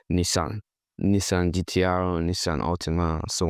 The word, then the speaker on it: Nissan: So this is what we call Nissan. Nissan GTR, Nissan Altima, so on and so forth. Nissan. But how do Japanese pronounce this? They say Nissan, Nissan, Nissan, not like Nissan.